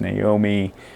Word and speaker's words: Nome: uh tara naomi doyle it looks like gnome but it's pronounced naomi has a little bit